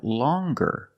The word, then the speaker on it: longer: But then you have longer, where we have the hard g sound. Longer. With a nasal sound, plus the hard g, longer. And we have the j sound, the regular n, plus the j sound.